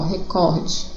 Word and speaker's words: recorde: Aqui, ó, acento no có, recorde. Senão seria recorde, aí teria acento.